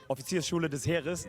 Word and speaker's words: Offiziersschule des Heeres: I'm an officer's cadet at the Offiziersschule des Heeres. That's how you pronounce it in German.